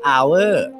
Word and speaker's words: hour: อ ก เ สี ย ง ว่ า hour น้ อ ง ๆ จ ำ ไ ด้